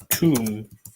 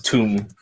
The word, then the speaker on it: Tomb: Zach Tomb. Not Tom, it's Tomb. The B is silent.